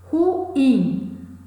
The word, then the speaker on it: ruim: Ruim, a sílaba tônica, a sílaba mais forte é in, não leva acento.